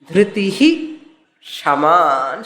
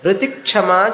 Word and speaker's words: धृतिः क्षमा: When Chakara comes, previous Visarga to be pronounced fully. Dhritihi Kshama Sharana. Dhriti Kshama சொல்லக்கூடாது.